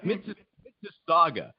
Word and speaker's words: Mississauga: Am I pronouncing that right? Yeah. Mississauga.